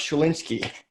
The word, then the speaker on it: Schlinsky: I'm your host, Nathan Hirsch, and my guest today is Schlinsky. How you doing? Did I pronounce it right?